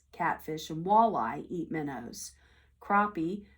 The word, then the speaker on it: crappie: Crappie, pronounced crappies, also dine on minnows.